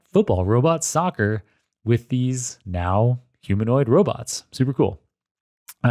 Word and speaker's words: Nao: the building and met the Dutch now team where now is spelled Nao and this is the